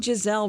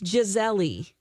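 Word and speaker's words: Gisele: out this weekend that we're saying Jazelle wrong oh it's jezeli that's the way her name is pronounced in Portuguese oh I had no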